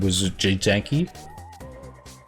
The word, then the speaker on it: Wojcicki: Matthew Patrick, the host of that channel, he was interviewing Susan Wojcicki.